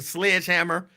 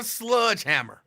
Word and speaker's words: sledgehammer: the head with a sledgehammer which is by the way pronounced Sledge Hammer it's not a sludgehammer it's a sledgehammer I get so mad